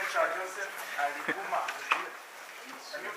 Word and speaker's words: Aliguma: My name is Joseph Aliguma. Can you pronounce Aliguma? Arigumba.